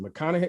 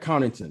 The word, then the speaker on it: Connaughton: Bobby Portis, okay, and Pat, was it McConaughey? McConaughey? Is that how you pronounce his name? Pat Connaughton, yes.